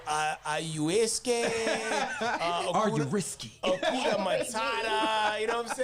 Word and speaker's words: ayahuasca: You went on your ayahuasca.